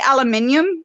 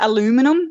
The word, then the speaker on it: aluminium: And we say aluminium instead of aluminum. It's actually aluminium in Australia, but aluminum looks like how it's spelt. Sorry, it sounds like how it's spelled. Aluminum. Yeah. But we go aluminium. Do you have any aluminium? Yeah, like the Brits.